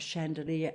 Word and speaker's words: chandelier: we can see in the soft ch of chandelier and chaperone as compared with the older chandler and chapel and the soft g